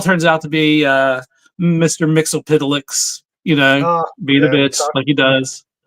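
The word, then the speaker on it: Mxyzptlk: Lois Lane gets him to break it down phonetically, and In the comic, It's Mix Yez Piddleick is how you say it.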